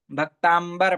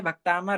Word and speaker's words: भक्तामर: का पाठ करते हैं तो भक्तामर को क्या बोलते हैं भक्तांबर पाठ य भक्तांबर होता है कि भक्तामर होता है हां कल ही मैंने